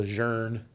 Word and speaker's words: Lejeune: We honor the legendary General Lejeune by mispronouncing his name, so we call him Lejeune when he's Lejeune, whatever. But you sound like a tool if you say Lejeune, right? But it's Lejeune, and all those guys think